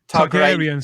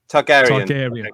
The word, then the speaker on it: Targaryen: Targaryen.